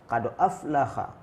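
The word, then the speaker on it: قد أفلح: Yang benar adalah qad aflaha. Ha bil ha. Kha itu salah. Yang benar aflaha.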